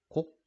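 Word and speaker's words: 告: 곡. 자, 이 글자는 알리다 고라고 하는 글자인데 여기에서는 고라고 하지 않고 곡이라고 읽어줍니다. 왜냐하면 나보다 나이가 많으신 연륜이 많으신 어른들한테 청해가지고 알려드리는 걸 뵙고 청하기 때문에 곡이라고 읽어줍니다.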